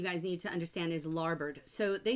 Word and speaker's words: larboard: But in the book, and even though it looks like it says larboard and starboard, it's pronounced bird. So larboard, starboard, and they're the left and right sides of a ship.